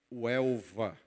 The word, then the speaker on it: Huelva: cidade onde nós estamos, que se chama Huelva, com H, Huelva. Algumas pessoas pronunciam Huelva, por causa dessa tendência do H aspirado, mas ela se chama Huelva.